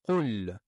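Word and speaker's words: قل: On commence par le premier mot, qul.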